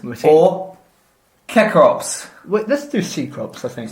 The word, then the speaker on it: Cecrops: Wait, let's do Cecrops, I think. Cecrops. I think it can be pronounced Cecrops with a K, but we're going Cecrops. We're anglicising it.